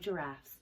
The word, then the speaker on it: giraffe: And I've been waiting for this all year because you know how much I love giraffes. So my little giraffe from Leo is perfect as a demonstration for the soft G.